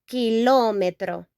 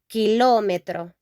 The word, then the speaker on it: kilómetro: In Spanish, we pronounce this kilómetro, kilómetro.